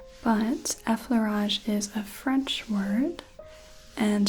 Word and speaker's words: effleurage: effleurage versus efferlage, but effleurage is a French word, and to remember the correct pronunciation and spelling, I just have to remember that fleur, the word for flower in French, is part of effleurage.